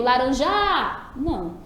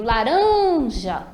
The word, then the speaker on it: laranja: eu demoro mais duram eu não digo laranja' eu digo laranja então eu demorei mais nessa sílaba portanto ela vai ser a sílaba tônica percebeu também que essa